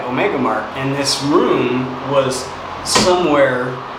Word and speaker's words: Omega Mart: yeah Omega Mart uh I keep saying it wrong that we have a a market this local to us called ocean Mark so sometimes I call it ocean Mark but no it's definitely Omega Mark so if I make